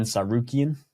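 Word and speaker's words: Tsarukyan: Sarukian.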